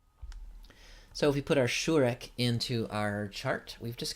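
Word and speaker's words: שׁוּרֶק: The shurek is both the short and the long U, pronounced as the U in flute.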